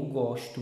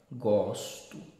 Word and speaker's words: gosto: Eu gosto muito de você. Vogal aí está aberta. Gosto. Conjugação do verbo gostar. Já quando eu digo gosto, não se discute. A vogal já está fechada. Gosto.